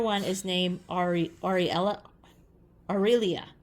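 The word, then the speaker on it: Arelia: is named AR Ariel aelia aelia I think is how you say it um I could be wrong it's a r e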